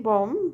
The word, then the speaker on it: bomb: is produced pronounce or B in bomb but bombard so that's a bombard right so that's a not bom bombard it's not B sound okay now discussion what